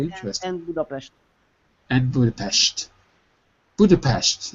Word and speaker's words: Budapest: Budapest, if you want to say it right. Not Budapest. Yeah. Budapest. Yeah. Like borscht.